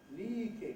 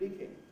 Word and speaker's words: leaking: the scandinavian cousin live they turn up in efl as lee king instead of leaking joe king when people